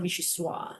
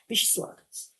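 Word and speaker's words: vichyssoise: It's not Vichysoise. You have to say the soise. Okay. Vichysoise.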